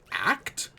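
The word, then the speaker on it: Acht: I don't think they ever say it, so I don't know how to pronounce it, but I'm pretty sure it's ACT. Like, it's A-C-H-T. ACT, right? ACT.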